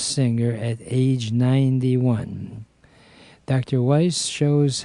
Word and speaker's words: Wise: growth first of all my pronouncing your last name right dr. waste sir dr. Weiss aye-aye sir sorry and